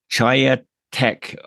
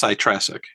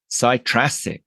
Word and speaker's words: Chytráček: I'm here with Chytráček. Oh God, I made a total balls up for your name there. So how do you pronounce it? It's Chytráček. Chytráček.